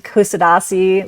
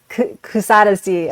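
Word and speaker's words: Kuşadası: So I I call this city Kusadasi which I've probably completely pronounced incorrectly Kusadesi.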